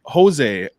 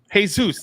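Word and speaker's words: Jesús: like holy crap like jose or wait yeah jose from uh from aztec hey seuss hey zeus yeah hey zeus that's what i meant i said wait did i say his name wrong yeah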